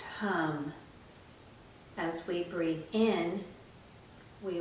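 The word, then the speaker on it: Ham: We'll use the throat seed sound of hum, spelled H-A-M, but pronounced hum.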